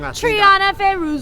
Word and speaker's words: Trianna Feruza: I'm here with Trianna Feruza. I always say it wrong. Trianna Feruza.